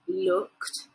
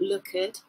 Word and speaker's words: looked: Look, so looked, not lookered. A lot of people say lookered. That's the wrong pronunciation.